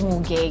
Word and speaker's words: muguet: of the Valley itu namanya tuh muge muguet gitu tapi dibacanya tuh muge gitu dan itu tuh simbol